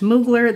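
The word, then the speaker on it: Mugler: eyelash I have one I believe it's pronounced moogler this is alien goddess this is from Lake and Sky 11 11.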